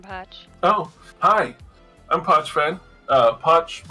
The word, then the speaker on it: Poch: Poch rhymes with watch, as you may see.